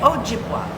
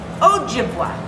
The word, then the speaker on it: Ojibwa: dway oak dway and is the j pronounced ja or is it o might be o right might be a sound like hispanic accent on the jib oh oh jim okay ojibwa ojibwa okay so they you know